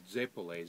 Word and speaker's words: zeppole: Yeah, but normally these Zeppole, Z-E-P-P-O-L-E is how it's spelled.